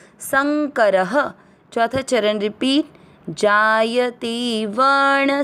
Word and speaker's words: संकरः: में अ मिक्स करेंगे संकर, र में अ की मात्रा तो विसर्ग को पढ़ेंगे ह, संकरः।